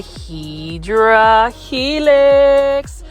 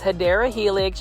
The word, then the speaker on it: Hedera helix: Now, as far as this, one thing I learned about the Hydra Helix, or the correct way to say it is Hedera Helix.